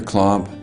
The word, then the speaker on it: Klomp: stood and I said my name is Clump and it's spelled Clump with a K and sat down and